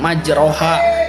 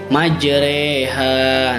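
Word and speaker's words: مجراها: Nah, di sini dibacanya itu bukan majroha tapi majreha.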